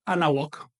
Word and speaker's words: Anáhuac: Por ejemplo, cuando uno atl con náhuatl, le elimino el sufijo TL. Así que no digo atl náhuatl, no, digo anáhuac. He modificado su pronunciación, he sintetizado la expresión.